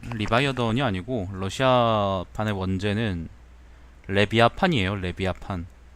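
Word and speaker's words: Левиафан: 레비아판. 레비아판이라는 게 그 리바이어던이 이제 러시아어 발음이거든요. 리바이어던이 이제 영어 발음이죠.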